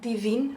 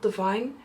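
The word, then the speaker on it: Delina: the deine from je you say it like deine and not Divine jej told them himself deine so it's really about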